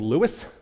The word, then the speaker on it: Lewes: They found a place called Lewis. That's why it's spelled funny. Lewes.